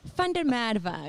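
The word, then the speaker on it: Van der Merwe: This is Vandermeerwe. Wagnermeer Rai. Fundermadva, if you want to say it right.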